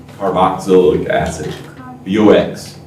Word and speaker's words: carboxylic: How do you pronounce it again? Carboxylic acid. Carboxylic acid. BOX.